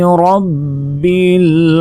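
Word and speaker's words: رَبِّ: রবা জবর রব বালাম জের বিল। রব্বিল আমরা অনেকেই বলি যে রাব্বিল। রাব্বিল কিন্তু নয়। রাব্বিলটা ভুল উচ্চারণ বলতে হবে রব্বিল।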